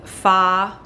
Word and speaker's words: pho: actually made it with fa that's how you say it but pron but phonetically faux spices uh I have two